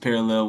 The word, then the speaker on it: Parallel: It's spelled parallel, spelled like that, but pronounced parallel.